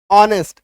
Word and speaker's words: honest: ठीक है, चलो कुछ शब्दों में आप देखिएगा कि एच के बाद ओ आता है तो एच साइलेंट हो जाता है।